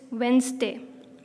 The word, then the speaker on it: Wednesday: stay when they not you don't say out loud the D in the Queen's you don't call it a redness day it's Wednesday that's monk and genre quote